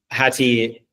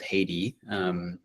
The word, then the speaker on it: Häti: Häti, not to be confused with Haiti, Häti means heart in Indonesian.